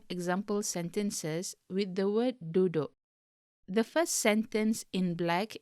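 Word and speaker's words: duduk: to sit notice that the u in the second syllable is pronounced like o in the o in boat in english but u in the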